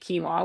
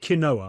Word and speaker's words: quinoa: I used to call it kinoa. I used to call it kinoa until I until I was corrected by someone who was very very upset with me.